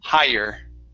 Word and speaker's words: higher: one right here okay remember that the g and the h do not make a sound so instead of higher it's higher higher okay good good